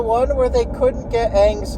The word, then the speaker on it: Aang: It's Aang. Maybe it's pronounced differently because it's like, what is it, A-A-N-G? But like, still, I feel like, you watch one episode, even the first episode, that should be enough. His name isn't Ung. It's become a funny joke between me and a couple other people. Where like, oh my gosh, it's the Avatar, Ung, or whatever. Because that's how they pronounce his name in the movie.